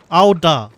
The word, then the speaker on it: Ul'dah: How would you pronounce? Again? Ul'dah.